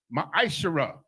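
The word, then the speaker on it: מעשר: verses 8 through 10 means 10th in the hebrew and is pronounced my ishira 10 of every penny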